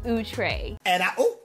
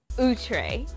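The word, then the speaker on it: Outré: here and don't forget it's actually pronounced ootray ootray so this is going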